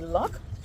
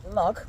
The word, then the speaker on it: loch: First of all, there is the loch, not pronounced loch, but rather loch, loch.